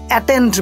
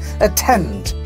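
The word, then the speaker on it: attend: এটার English word কি, অ্যাটেন্ড বলি আমরা, রাইট? অ্যাটেন্ড, এটার মধ্যে কয়টা সিলেবল রয়েছে, অ্যাটেন্ড, দুটো সিলেবল রয়েছে, এখানে সেকেন্ড সিলেবলটা জোরে হবে, অ্যাটেন্ড।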